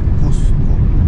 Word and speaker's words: Cusco: Is that how you pronounce Cusco or Casco? No, Cusco.